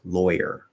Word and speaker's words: lawyer: aw to or and we say loy lawyer um so even though it's spelled aw usually aw in the merger will represent ah and that's like easy that almost always represents that but there are some exceptions like lawyer where for various reasons